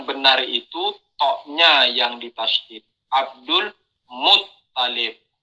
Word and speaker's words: Abdul Muttalib: Abdul Muttalib. Ya, jadi toknya yang ditasydid bukan lam.